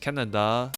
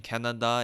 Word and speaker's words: Kaneda: We follow main protagonist Kaneda. Okay, so future me speaking here whilst editing this. I have something to confess. I mispronounced Kaneda's name wrongly for the entire video. I have been saying Canada instead, but I have already